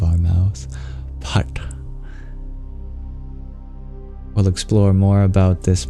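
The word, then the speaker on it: phaṭ: The seed of this mantra is this word, pat, which is a little difficult to pronounce as it has an aspirated P sound, pa, almost like an F, and a retroflex T that requires us tapping the bottom of our tongue against the roof of our mouth.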